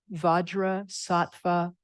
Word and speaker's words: Vajrasattva: it's pronounced differently in tibetan but it's om vadra satva home this is the sixth syllable name Mantra of the Buddha vajras SATA